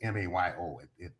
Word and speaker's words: Mayo: Because I'm mixing up DeMayo and Yeah, the Mayo study is M-A-Y-O. It's as though it should be pronounced Mayo.